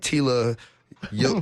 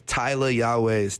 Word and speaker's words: Tyla Yaweh: to say Tyler Yahweh people be like Tila young you a Yahweh your way they be saying my name all types of ways my name is Tyler Yahweh's Tyl a why a weh and you can find